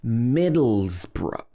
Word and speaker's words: Middlesbrough: like that as well number nine is similar middlesbrough middlesbrough in the middle it's got z middle z bruh or middlesborough borough okay